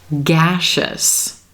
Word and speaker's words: gaseous: Nauseous, gaseous. Here again, we do have a common spelling pattern. The letter S right before the suffix is blending with that E and becoming the SH.